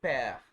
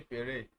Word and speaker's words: père: Le père. The father. Père. You don't say pere. I've heard a lot of people calling it pere. I don't know where they get that from. But it's père.